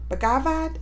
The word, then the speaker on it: Bhagavad: easy the bagavad gida bhagavad is how you say bhagavad gita made easy